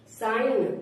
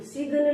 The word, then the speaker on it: sign: साइन, SIGN, साइन, सिगन नहीं पढ़ेंगे इसको, साइन, SIGN, साइन। जैसे campaign, COMPAIGN, campaign, COMPAIGN, campaign.